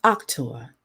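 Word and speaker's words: auctor: the word author in Latin is October it's pronounced October let's keep saying that octum actor actor haven't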